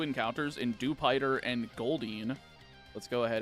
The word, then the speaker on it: Dewpider: It's kind of funny to me that apparently Dewpider is supposed to be pronounced like Jupiter. No, that's just the localization team being fucking stupid. It's a spider. It's Dewpider. It's not hard to understand.